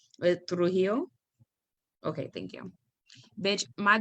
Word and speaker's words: Trujillo: And so I think about the ethnic cleansing, and I don't know if I'm pronouncing his name right, Trujillo.